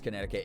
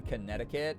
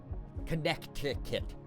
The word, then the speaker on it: Connecticut: who can't help pronouncing the second scene in Connecticut? Oh, I do that as a joke all the time, Kyrion, where I'm like connecticate. It's it's it's way I don't know why I love to like destroy the pronunciations of places and certain words.